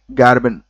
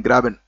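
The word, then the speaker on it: graben: कैमबे सी ए एम बी ए वाई कैमबे गार्बिन जी ए आर गैबिन गैबिन बोलते हैं मैं अक्सर स्पेलिंग इसकी गलत कर देता हूं जी आर ए बी ई एन ग्रेबिन गार्बिन नहीं ग्रेबिन लिखते समय अचानक से याद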